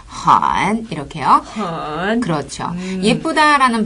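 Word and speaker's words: 很: 정말 예뻐가 되겠죠 어 그리고이 헌이라는 말은요 매우 아주라는 뜻이고음을 아래로 내렸다가 살짝 올리시면서 발음하시면 돼요 한 이렇게요 그렇죠 예쁘다라는 발음은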